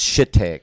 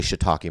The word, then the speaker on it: shiitake: Like it's shit take, and it's really shiitake mushrooms.